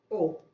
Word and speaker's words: O: se le llama grupo O. No es cero, ¿ah? Le dicen algunos cero porque se escribe.